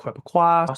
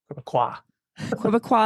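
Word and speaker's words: Québécois: green party and block quaqua so the S is not pronounced quaqua if you're listening please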